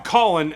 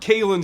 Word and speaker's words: Khalen: to start with this you now Colin not Kalyn Saunders is a guy that